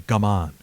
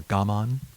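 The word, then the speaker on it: 我慢: gamon or gaman right there's two pronunciations of it i think in english a lot of people say come on but i think in japanese would be more gamon with the emphasis on the first syllable on this gammon there's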